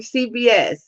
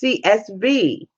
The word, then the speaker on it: CSV: See, I knew I was saying it wrong. CBS. It's CSV.